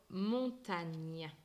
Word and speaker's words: montagne: Quand on voit les lettres G, N ensemble, elles se prononcent ni. Ni. Donc ici dans l'exemple, le mot montagne.